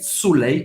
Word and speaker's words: soleil: Le soleil, soleil, o sol, le soleil, como se fosse um i longo, le soleil brillait, mais uma vez, como se fosse um i longo, briller, briller.